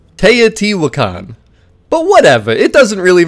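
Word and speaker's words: Teotihuacán: me in the comments I did look it up but apparently it's te wakan but whatever it doesn't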